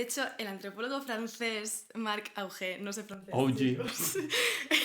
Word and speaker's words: Augé: De hecho, el antropólogo francés Marc Augé, no sé francés. OG. Lo hemos buscado y se pronuncia OG.